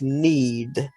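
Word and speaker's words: knead: The first word is need. Oh, it's pronounced like N-E-E-D, but it has a silent K at the beginning.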